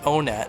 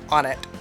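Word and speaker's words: Onett: stage this is onet I do pronounce it onet not want and not on it on it I'm on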